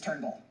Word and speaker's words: Turnbull: His name is not Trumbull. His name is Turnbull.